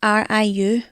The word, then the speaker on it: Riu: It's RIU.